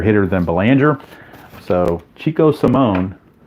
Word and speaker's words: Salmon: So Chico Simone, first I thought his name was Salmon, but it is pronounced Simone.